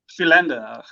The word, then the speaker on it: Philander: No, so Philander. That's how I grew up. So that would be, I'd imagine, the Ravensmead pronunciation.